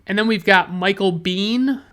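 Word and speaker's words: Biehn: And then we've got Michael Bean. I believe Bean is the correct way to pronounce his name.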